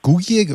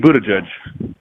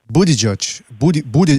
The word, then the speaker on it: Buttigieg: I can't pronounce the name either. How do you say it? But Gugieg or what? Pete Buttigieg. Buttigieg.